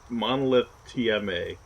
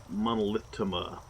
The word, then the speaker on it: Monolith TMA: I've had it happen twice now, actually, where even though it's Monolith capital T, capital M, capital A, I've had two streamers say Monolithtima. So, but for the most